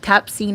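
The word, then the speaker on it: Tabcin: And Tapsine is spelled Tapcin.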